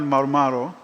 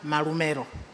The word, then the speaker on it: Marumero: Just to make the name pronunciation accurate, I am Marumero, but I'm not from Rome.